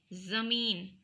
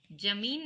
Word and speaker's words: ज़मीन: हुए ग़ज़ल बोलते हैं जमीन नहीं बोलते हम ज़मीन आखिर क्यों उच्चारण की भिन्नता आवाज को सुन कर समझ में आ रहा होगा जमीन और जमीन यहां पर हम जमीन बोलते हैं वहां पर हम यह व्यंजन के नीचे यह डॉट नहीं लगाते लगाते अगर